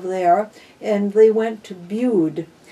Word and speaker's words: Bude: and they went to bude bued which rhymes with dude is in cornwall and